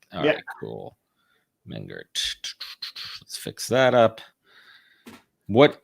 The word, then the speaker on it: Mengert: ask you this off what's what's the proper pronunciation of your last name man Gert man Gert yeah cool man Gert let's fix that up